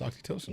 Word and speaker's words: oxytocin: kiss and my 20-second hug so that the oxytocin, is that how you say it? Yeah, it's oxytocin.